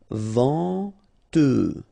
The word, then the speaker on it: venteux: Final X not pronounced. Then EN. En. Venteux.